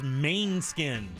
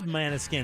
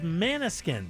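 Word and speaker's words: Måneskin: Yeah, because I thought it was Mainskin. I thought it was Maniskin. But it is Maniskin, isn't it? Is it? Yeah, it's Maniskin.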